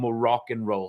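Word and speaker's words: Moroccan Roll: check out their album morocc and roll spelled like the North African country but more rock and roll get it uh um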